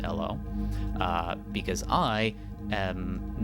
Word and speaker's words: Elw: And I only recently learned that it's actually pronounced Elo. ELW in this game is pronounced Elo.